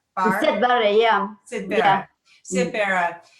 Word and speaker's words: Siad Barre: What you mentioned about the language, because you also, for the participants, you mentioned, I'm going to get his name wrong, Siad Barre. Siad Barre, yeah.